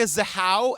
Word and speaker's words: Zahau: The Case of Rebecca zaha am I saying that right you are again we're gonna be saying this a lot according to the oxygen documentary yes you are saying it correctly you guys we're starting